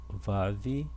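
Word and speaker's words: ו: Vav, Vav tem o som de V. Vav.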